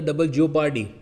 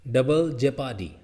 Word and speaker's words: double jeopardy: अच्छा एक और चीज़ सुन लो भाई, एक तो बोलता डबल जियो पार्टी, यहाँ पे भी प्रोनाउंसिएशन ठीक कर लो, ठीक है? कैसा है, वापस सुनो प्रोनाउंसिएशन कैसे बोला जाता है, सुनो इसको।